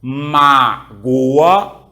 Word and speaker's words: mágoa: separado mas Goa perfeito Se eu colocar um acento agora muda tudo agora não é mais magoa agora é como mágoa lembra disso Olha que